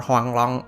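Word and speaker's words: Huanglong: high Golden Dragon or Huang long as it's pronounced in Chinese is a mythical creature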